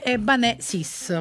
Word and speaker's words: Ebbanesis: Un po' strano, abbiamo cambiato l'accento però, perché si dice Eban e Eban. noi invece abbiamo cambiato, abbiamo messo l'accento sulla seconda e quindi Ebanè, no? Ebanè sis, per fare, no?